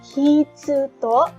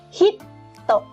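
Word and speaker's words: ヒット: Kita bacanya bukan hitsu to, tetapi hit to. Hit to. Jadi menekankan huruf konsonan yang ada di depannya.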